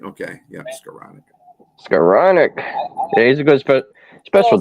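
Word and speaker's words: Skowronek: resigned wide receiver Ben scow neck how you pronounce scanic scanic scanic that's right okay yeah scanic scanic he's a good special teams SC receiver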